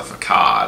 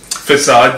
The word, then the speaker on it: facade: ugliness lurking behind the faqad of small-town values facade you mean I think it's Browns facade at least that's how I always pronounced it all right but anyway